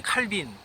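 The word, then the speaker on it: Calvin: 깔뱅이로 읽어야 된다라고 주장을 해서 그것으로 유명합니다. 하지만 사실 일부 주장이고 일반적으로는 칼빈주의라고 합니다. 그러니까 영역, 영어식 발음 명칭이 자리 잡은 거죠.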